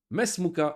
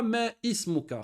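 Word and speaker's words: ما اسمك: Mesmuka, on savait qu'ici, le Hamza s'appelle Hamzatul Wasl et on ne le prononce pas. On le prononce seulement quand il est au début de la phrase, comme ismi. Mais si on ne dit pas me ismuka, khata, mesmuka.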